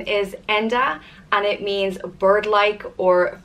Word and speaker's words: Enda: the next name is Enda and it means bird-like or freedom of spirit it comes from the Irish word Ian which means bird and it's pretty nice exactly as it's spelt and duh and you